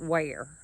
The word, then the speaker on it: Weir: W-E-I-R, Mississippi. And they pronounce it Ware.